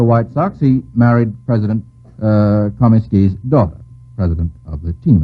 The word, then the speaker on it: Comiskey: Kieran, how do you pronounce it? Comiskey.